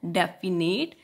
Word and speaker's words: definite: ठीक है बच्चा, यहाँ पे से हम लिखेंगे डेफिनाइट, लेकिन हमने इसे रीड कैसे करना है? प्रोनाउंस कैसे करना है? डेफिनेट.